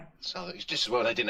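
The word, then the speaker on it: Southwark: Suk is that how you say it? Soc Yeah. Oh my god. I've been saying it's a burough I've been saying it wrong my whole life.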